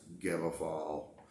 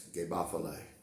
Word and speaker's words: Gebafal: and the word is g-e-b-a-f-a-l um it's been pronounced gamma fall and then with the absolute character phonetic i've long pronounced it give a folly but there is a more pure proper enunciation